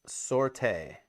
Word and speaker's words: sortie: Oh, it's pronounced sortie. Basically means a raid. Not if you pronounce it the French way.